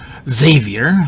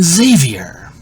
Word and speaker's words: Xavier: Xerox, Xylophone, Xerxes, Xanthan Gum. Why would you think his name was pronounced in any other way than Xavier?